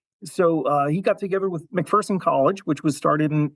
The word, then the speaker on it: McPherson: Now, if you really want to put a smile on your face, okay, I'm saying McPherson is the preferred pronunciation, McPherson? It is McPherson.